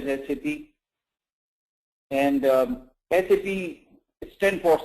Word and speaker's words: SAP: sap first of all it's pronounced as SCP and um SAP stand